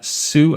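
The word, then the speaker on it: Hsu: Stephanie Sue. I think the H is silent.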